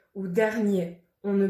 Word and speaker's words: dernier: certains mots de certains adjectifs comme premier ou dernier on ne prononce pas le 1er mai l'association du e